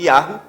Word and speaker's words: Yahweh: Então eles pegaram, os padres, os papas, tiraram o nome do Criador, que é o tetagrama, que é YHWH, que dá a pronúncia de Yahweh, e substituíram na Bíblia por Senhor.